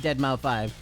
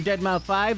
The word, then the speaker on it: deadmau5: he said that his it's actually pronounced dead mouth five he was like uh I'm dead mouth five that's how it's actually